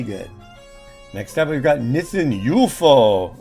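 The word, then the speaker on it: Nissin UFO: Next up, we've got Nissen UFO. At least that's how they pronounce it in their commercials. Nissen UFO.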